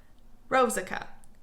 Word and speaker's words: Rosica: this the whole video say jessica jessica then say rose instead of jess rosica that's how you get